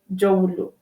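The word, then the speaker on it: Dzorwulu: You have Jolu. Jolu is just neighboring also the airport residential. It's not far away from airport residential. Because Jowolu. Jolu. Yeah, Jowolo.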